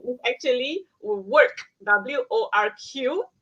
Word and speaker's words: WORQ: But the name is actually WORQ, WORQ, spelled with a Q.